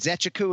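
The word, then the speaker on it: Nzechukwu: the athlete and i'm like bro kennedy and zechaku and he's like perfect i'm like all right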